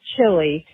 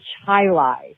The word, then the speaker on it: Chili: It's not pronounced Chile. She grew up in Chili. I know it's spelled like Chile, but that's not how it's pronounced.